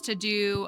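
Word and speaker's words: Todew: yes yeah there's a to-do list mod I literally think it's called to-do but I think it's spelled t o d e w I think is the name of it maybe we should get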